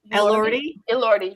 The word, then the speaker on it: Elordi: Liordi? Elordi, yeah.